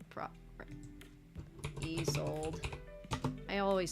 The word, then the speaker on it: Isolde: Lady Isolde.